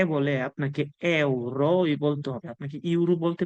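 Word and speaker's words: euro: এতে কি এই যে ইউরোটা আছে অনেকে বলে এটাকে ইউরো বলে কিন্তু এটা আসল উচ্চারণ হবে এ যদি যেহেতু এটার উচ্চারণ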